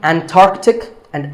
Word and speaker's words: Antarctica: The C in the middle is not silent. Similarly, Antarctic and Antarctica. That's the name of the region at the South Pole.